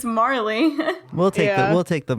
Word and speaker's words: Marley: we're locking with Jacob Morley um I need to make a judgment call here because it's actually Jacob Marley like Bob Marley oh that's just how